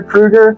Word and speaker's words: Krueger: Well, I commend you on pronouncing the last name right. It's Krueger.